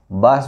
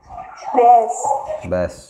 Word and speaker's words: ব্যাস: বাস বলে না ব্যাস বলে, কোনটা বলে উচ্চারণ? ব্যাস।